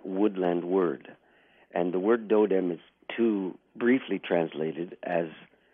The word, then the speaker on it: totem: people don't know that that word totem is actually this and there's not a word I'm referring to it's dou dem it's a D it's a softer pronunciation and it's a Eastern